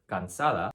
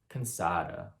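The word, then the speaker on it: cansada: spanish so for example the spanish word gansala has three a's and each a has to be pronounced exactly the same an english speaker might say kansada consada a schwa but what we need is plain and simple so in the future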